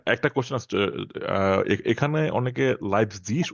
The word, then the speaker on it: Leipzig: আচ্ছা আচ্ছা ওকে একটা কোশ্চেন আছে এখানে অনেকে লাইপজিগ উচ্চারণ করে নট লাইপজিগ আচ্ছা, আসলে কি লাইপজিগ নাকি লাইপজিগ সঠিক প্রনাউন্সিয়েশন হচ্ছে লাইপসিগ, বাট লাইপজিগ ওকে 90% মানুষ হচ্ছে 80% মানুষ হচ্ছে লাইপসিশ বলে।